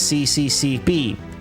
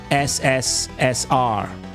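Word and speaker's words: СССР: Don't pronounce this as CCCP. In Russian, you pronounce this as SSR.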